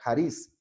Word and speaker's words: charis: de la palabra griega charice que se escribe con ch charisse y se pronuncia el aris que esa es la